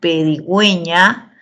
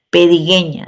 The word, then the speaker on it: pedigüeña: Pedigüeña, la U lleva diéresis, ¿por qué? Porque esa U se pronuncia y es necesario que lleve diéresis porque si no sería pedigueña, ¿no?